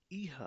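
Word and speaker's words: ihr: इज का्ट एस एस का सर्दीस okay then ईहा pronouncing मी ईहा इहा इहा विड यू ऑल यू ऑल तुम लोग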